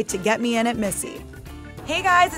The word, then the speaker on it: Misi: Brooklyn she recently opened Missy pronounced like her name but spelled differently Robins initially learned the